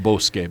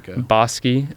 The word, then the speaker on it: Bosque: It's on Bosque, like I guess North Bosi. It should be pronounced Boske, but it's Bos here in W Boski.